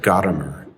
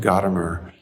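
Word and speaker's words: Gadamer: relevance of the beautiful by the german philosopher gottamer that's spelled g-a-d-a-m-e-r it's not easy reading just as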